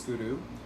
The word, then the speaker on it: Guru: And when you pronounce Guru, we ask you to pronounce it with a rolled R a bit. So it sounds like this, Guru. You're hitting your tongue to the roof of the mouth by the back of the front teeth.